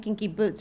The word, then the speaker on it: Kinky Boots: I love saying Kinky Boots because that's how Billy Porter says. He emphasizes the boots, don't you he think?